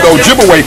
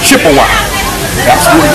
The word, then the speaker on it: Ojibwe: spot and of course they corrupted the pronunciation of Ojibwe people to Chippewa so Chippewa and Ojibwe that's the same people was the European Corruption of their real name Ojibwe okay so they begin